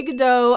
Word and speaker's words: Gadot: you pronounce her name a lot of people say godot i've heard it gadot hello my name is gal gadot i think from her